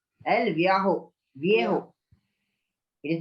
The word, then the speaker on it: Viejo: Spanish में J is pronounced as H. El Viejo. Viejo. It is pronounced as Viejo.